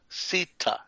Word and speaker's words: Sita: Sita.